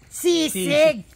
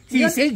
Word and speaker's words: sisig: pag ginanyan mo eh mas sisig sising sising sisig yun ang correct pronunciation sa manela kasi dito sa Baro